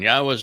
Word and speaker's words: Yahweh: I go through this with you and use these four words because they prove emphatically that the proper pronunciation of Yahweh's name is as I have pronounced it, Yahweh.